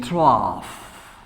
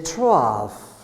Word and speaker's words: trough: We say trough, right? We pronounce F, we pronounce like ah. This is the trough.